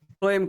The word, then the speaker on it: phloem: फ्लोएम कहते। Phloem. फ्लोएम spelling को बोल लिख दिली।